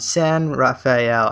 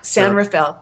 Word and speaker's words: San Rafael: Again, that's June 23rd in San Rafael. I believe that's how you say it. Right north of San Francisco there. San Rafael.